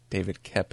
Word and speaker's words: Koepp: me he read that it's actually pronounced Kep, so we're going to say David Koepp, actually.